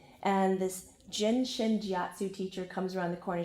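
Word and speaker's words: Jin Shin Jyutsu: That's how you say it, Jin Shin Jiatsu, and offered for me to show up to her home to join a class.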